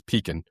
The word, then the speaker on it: pecan: Um, my wife wanted to get an apple cranberry pecan. I'm sorry. We we we haven't talked about this not in a long time, but the proper Freso pronunciation is peacin.